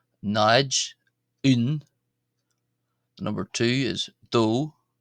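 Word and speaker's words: dó: The number two is do. Some of you there are thinking of Homer Simpson, of course, but it's pronounced do.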